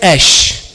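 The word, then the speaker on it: אש: da palavra em hebraico, fogo é a palavra ash. São duas letras, alefim, e se pronuncia ash, fogo.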